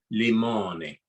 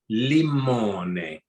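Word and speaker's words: limone: i said what what how do you say a lemon and he goes limoni okay he goes no li mone matter how i say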